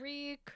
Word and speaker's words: Reek: Reek. Reek. Rhymes with leak.